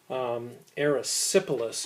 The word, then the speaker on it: erysipelas: Now, didn't make a real big deal about this, but erysipelas is how you pronounce it.